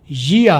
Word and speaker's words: year: अगर आप इसे सुन रहे हैं ईयर तो फिर एन लगना चाहिए, एन ईयर, लेकिन इसकी प्रोनाउंसिएशन ईयर नहीं है, यिया है, यिया, तो फिर या हो गया, तो फिर हम उसके साथ ए लगाएंगे।